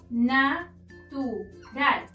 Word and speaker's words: natural: Natural. Ral es la sílaba tónica, es decir, la última sílaba, pero como no termina en n, s o vocal, no la podemos acentuar.